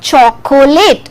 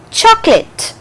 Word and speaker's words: chocolate: silent so it is not chocolate it is not three syllabic sound it is chocolate so this way if